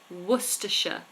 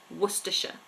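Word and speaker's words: Worcester: um Cavalier has asked how do you say the place werer wer completely different to how it's spelled werer werer um how do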